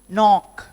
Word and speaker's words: knock: And similarly, we know the K silent words, knife, knee, knock, no. Here the K is silent.